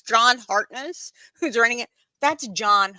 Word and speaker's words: Hartness: They are, especially since John's name is Hartness, not Harkness. That's right. It is a T.